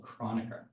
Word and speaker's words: Kronecker: So now you get to learn a new fun word called chronica. Chronica delta. So it's pronounced like I did roughly. No one will get mad at you if you don't do it properly.